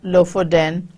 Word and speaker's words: Lofoten: your internet sources give you as the correct pronunciation so they're on the Norwegian coast in the district of low for then and the guide is going to show him